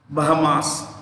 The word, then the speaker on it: Bahamas: You will find a lot of these kinds of, you know, banks in Canary Islands, Bahamas, yeah, Bahama, S is silent, Bahama, Canary Islands, Gibraltar, lot of these places.